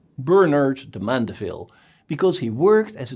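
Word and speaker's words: Bernard de Mandeville: book Bernard de M the name sounds a bit French but you should pronounce it the English way Bernard de mandaville because he worked as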